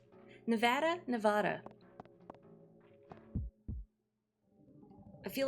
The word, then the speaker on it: Nevada: You've heard Nevada is correct for the people who live there. Nevada is the tourist pronunciation.